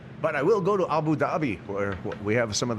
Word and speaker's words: Abu Dhabi: Abu Dhabi. Fun to say too. Yeah, it is fun. There's a silent H in it too.